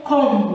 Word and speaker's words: comb: So don't say comb. We say comb, climb, lamb. We don't pronounce this book. If a word ends with M and B, you don't pronounce the B.